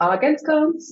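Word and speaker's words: Āgenskalns: The neighborhood is called Argenskans, and it's spelled Agenskalns.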